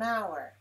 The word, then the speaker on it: hour: same hour the same hour so notice this word doesn't start with a vowel letter it starts with a letter H but the H is silent we don't pronounce it it's mute so the first vowel